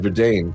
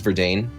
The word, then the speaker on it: Verdane: It's not pronounced Verdan. That was kind of French. I don't think this one's I I'm pretty sure this one is Verdane that you should use like literalistic pronunciations. Okay, I'll go.